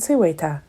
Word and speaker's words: Seweta: "And they are pronounced Hakwu and Seweta," added Nikki.